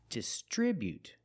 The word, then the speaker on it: distribute: Distribute. We see the buu together making the sound bu not but distribute.